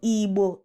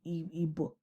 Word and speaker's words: Igbo: So the problem was from the people who were writing down the sound and didn't know how to capture that B sound.